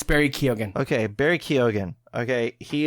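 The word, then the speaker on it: Keoghan: you pronounce his name just say kogen kogen why is it debated now no well it really isn't everyone just says kogen and no one's disputing it so just say it's Barry kogen okay Barry kogen okay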